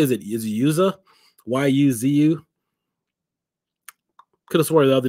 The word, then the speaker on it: Yuzu: 64-bit emulation station or Yuzu Yuzu okay perfect it's pronounced Yuzu so those are going